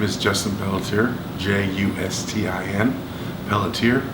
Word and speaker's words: Pelletier: Okay, can you tell me your name and spell it? Hi, my name is Justin Pelletier, Justin, Pelletier, P as in Paul, E-L-L-E, T as in Tom, I-E-R.